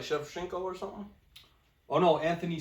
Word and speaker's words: Shevchenko: Yeah, Valentino Shevchenko.